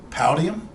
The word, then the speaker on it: Powdeom: from a company that's I think it's pronounced poutium p-o-w-d-e-o-m this is a 150